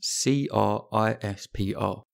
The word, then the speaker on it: CRISPR: amazing gene editing phenomenon that is crispr that's c-r-i-s-p-r pronounced crispr and it stands for clusters of regularly